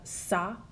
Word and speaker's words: ça: The cedilla, it only exists on a C, and what it does is changes the pronunciation from a hard C sound like a K to a soft C sound like an S.